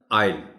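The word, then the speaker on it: I'll: ये short form है आई विल की, तो इसको पढ़ा जाएगा आइल. आइल, आई विल नहीं पढ़ा जाएगा.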